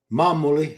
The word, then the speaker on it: Mamuoli: Mamuoli, I was told the emphasis on the first syllable from Italy.